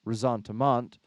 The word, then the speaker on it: ressentiment: And people like Jordan Peterson in his conversation talking about that word resentment, oftentimes pronounced ressentiment, which was sort of brought forward in its use by Nietzsche many, many, many, many years ago, decades, centuries now.